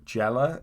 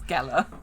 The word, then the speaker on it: Gellar: I've seen the remake with Sarah Michelle Gellar, or Jella, however you're supposed to say her name. It's Gellar.